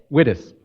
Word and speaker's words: Wittes: Our special distinguished lecturer today is Tamara, and is it pronounced Wittes? Wittes.